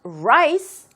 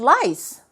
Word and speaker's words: rice: 할 적에 we eat rice, not lice. 근데 정말 많은 사람들이 이거 보면은 아는데요. 이 rice를 lice로 이렇게 발음하는 경우가 많습니다. 그러니까 R과 L을 헷갈리는 거죠.